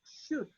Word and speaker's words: should: del curso, que es should. Repito lo que dije hace rato. La pronunciación, la letra L no se escucha, solamente se oye la letra D.